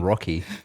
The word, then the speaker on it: Rakei: Oh, Jordan Rocky. That's what one of these things was saying. I just hit play and it sounds like Rocky.